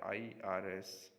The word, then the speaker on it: IRS: of the actual letters such as the irs internal revenue service which is pronounced as three syllables if it were a true acronym irs would be a one-syllable word priming with words acronym